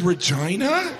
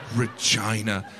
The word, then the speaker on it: Regina: The capital is Regina? That's not necessary. Regina. They could have pronounced it Regina.